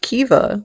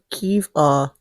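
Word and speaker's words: Caoimhe: It's pronounced Kiva, like Kiva. Can you get that out of there? I can't. I don't know. How do you get the V out of the M?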